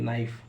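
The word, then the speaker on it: knife: कब साइलेंट होता है एन से पहले के आता है तो के को पढ़ा नहीं जाता है जसे के एंड डबल ई नी के एन आई एफ ई नाइफ के एन ओ टी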